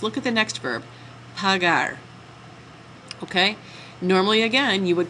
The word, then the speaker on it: pagar: e same problem though that e makes that g soft it sounds like P you're not trying to say that the original verb is pagar hard G all right so same